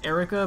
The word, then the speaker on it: Erika: We have I'm pretty sure it's just Erica, but every time I see it I want to pronounce it a different way, just because it's spelled a different way.